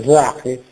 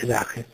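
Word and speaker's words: Sache: lingua tedesca si dice si pronuncia zake è scritto s a c h e zake zake vuol significare in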